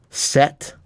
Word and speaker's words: Set: We got confirmation from Pagansong that I pronounced it correctly.